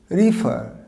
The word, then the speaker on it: refer: রিফার কীভাবে এর উচ্চারণটা হবে, প্রথমটা যেটা আর ই আছে, এই ইটা উচ্চারণ হবে আই এর সাউন্ড দেবে, আই, রি। আর পরের ইটা সাউন্ড দেবে এ, আর শেষের আরটা সাইলেন্ট থাকবে। উত্তর হবে, সঠিক প্রোনাউন্সিয়েশন হবে রিফার।